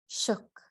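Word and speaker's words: suk: shook, a human being. A Fognak dialect, the S is pronounced sh. It sounds like shook, but with a shorter O.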